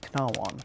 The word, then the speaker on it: cnāwan: in the 10th century, that initial consonant was there, it was spelled C rather than K, and it was pronounced knawon.